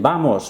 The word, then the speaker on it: vamos: The V we've already heard when I keep going on saying vamos, vamos. It's a B sound. Ube is what we call this.